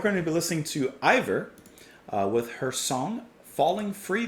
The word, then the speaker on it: Eivør: anything by the way i looked up really quick how to pronounce her name and from what google says it's ivor so i'm gonna go with that for now hope that i've gotten it